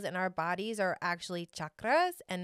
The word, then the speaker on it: chakras: energy healer did you know that the correct pronunciation for these energy wheels in our bodies are actually chakras and not chakras having the knowledge and the wisdom and the